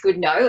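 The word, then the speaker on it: Goodenough: just mixed name um so it's spelt good enough yeah and it's pronounced good no as he he does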